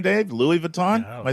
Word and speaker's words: Louis Vuitton: Louis Vuitton?